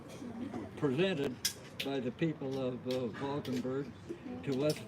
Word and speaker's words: Valkenburg: I said Valkenburg right. Confirmed. Yes. Huh? I said Valkenburg right. I pronounced it right.